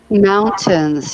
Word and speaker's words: mountains: Mountains, yeah. Be careful, students, with the pronunciation of this word. I cannot stress how important it is to pronounce it correctly. So it's not mo, but it's mao. Mountains.